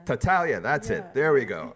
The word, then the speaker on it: Tartaglia: Now I got to tell you, I'm a serial name killer, so I apologize if I say your last name wrong. But Tartaglia. Tartaglia, that's it.